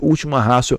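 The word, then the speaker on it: ultima ratio: Nós escrevemos última ratio. Ratio com T, pronunciamos última ratio.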